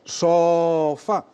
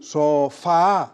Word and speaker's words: sofá: Por ejemplo, si yo digo sofa, no, sofa, sí, sofa.